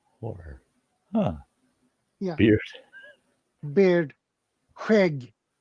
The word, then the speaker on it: Skägg: Skägg. Say it again. Skägg. Ah, I know it pronounced different how it is spelled.